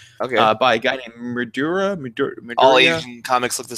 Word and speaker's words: Madureira: But there's another guy who made he's American, and his name is Madura. Okay, I've only seen it in print, and it's Madureira. And if my American delicacies know that, it's pronounced Midura.